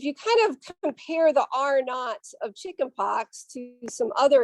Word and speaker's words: R naught: Okay, so we pronounce this R naught.